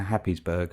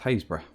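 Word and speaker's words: Happisburgh: me the way to happiesburg please uh in norfolk it's pronounced hayes bra okay here's another one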